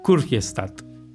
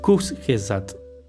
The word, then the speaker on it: Kurzgesagt: Creo que le inventé una T. Kurzgesagt. Busqué de hecho la pronunciación y la había olvidado. La tenía anotada aquí. Tenía anotado cómo se pronunciaba. Kurzgesagt. Es alemán.